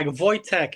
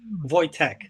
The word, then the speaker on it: Wojtek: Yeah, it's like Wojtek. It's like toy and tech like technology. So, you go like Wojtek.